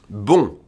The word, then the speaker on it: bon: Un bon élève. Spelled B-O-N, masculine, pronounced like the feminine.